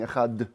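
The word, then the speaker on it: אחד: V'tzarich leha'arich badalet shel echad. You also have to lengthen the dalet of echad.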